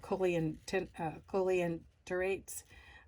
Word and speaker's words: coelenterate: have that, basically have that, what's called the coelenterates, hollow intestines.